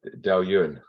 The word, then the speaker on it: Dailuaine: Richard, what would you say the correct pronunciation of this one is? Dailuaine.